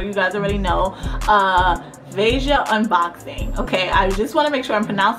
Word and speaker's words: Veja: how people pronounce it and the most common pronunciation is vasia like deja but vasia boom so if you